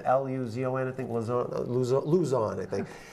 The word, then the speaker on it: Luzon: How do you pronounce it? Luzon? L-U-Z-O-N, I think.